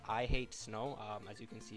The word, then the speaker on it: iH8sn0w: do is visit this website right here it's pronounced i hate snow as you can see it's spelled with a